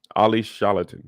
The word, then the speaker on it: Olly Sholotan: Olly Sholotan. I think that's how you pronounce his name.